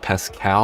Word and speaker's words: Pascal: That's right, Pascal. That's how you pronounce that.